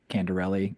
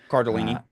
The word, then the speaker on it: Cardellini: Is it Linda Candarelli? How do you say her last name? Uh Cardellini. Cardellini. Yeah.